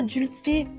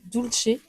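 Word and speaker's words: Dulcey: Ah, dulcé. Oui, je croyais que ça se prononcé doucher.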